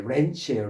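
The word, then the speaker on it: wrench: 발음이 렌치예요. 렌치.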